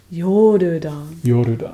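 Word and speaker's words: ヨルダン: 日本語の発音は何? Yeah, is that going to work? Jordan. Yorudan.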